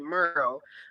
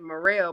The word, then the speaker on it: Murrell: So they pronounce it Murrell. But I was like, no, that doesn't sound right. I said Murrell, put some pizzazz on it, make it fancy.